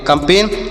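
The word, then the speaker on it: campaign: कंपेन और जी यहां पर नहीं पढ़ा जाएगा तो इससे पढ़ेंगे कंपेन और कंपेन मतलब होता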